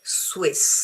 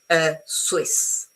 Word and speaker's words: Swiss: Okay, I say Swiss. So remember that this one is pronounced sui. And so it's very easy to have a proper S, not a Z. Okay, Swiss.